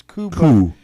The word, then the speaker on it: coup: I mean, there's already this undertone of it being this coup, right? This coup of He taking, is silent. It's spelled coop.